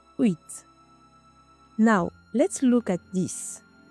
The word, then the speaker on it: huit: you don’t pronounce it there is no "h" sound at all you don’t say h-wit you just say uït now let’s look at